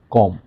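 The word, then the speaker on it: comb: যেমন শব্দের শেষে যদি এম এবং বি থাকে এম এবং বি এম এবং বি তাহলে এই শেষের বি এইটা থাইল্যান্ড থাকে। যেমন ল্যাম কম থাম বোম ডাম ল্যাম মানে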